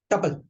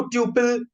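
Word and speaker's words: tuple: अगला है, नहीं यार भाई, डिक्शनरी, आए सॉरी सॉरी सॉरी, टपल। अगर किसी ने इसको ट्यूपल, टुपाल, टुपला कुछ भी पढ़ा, भाई साहब निकल लो, इट्स टपल, दैट्स इट। इसके अलावा इसकी और कोई प्रोनाउंसिएशन नहीं है, ठीक है।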